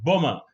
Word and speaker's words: bomber: and bring plumbar bring two plumbar the be is silent and the be is also silent in this one bomber so this one is plumber can you get